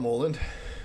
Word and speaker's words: Mouland: Um, so my name is uh Mulland. Um, often pronounced as Muland and either's fine.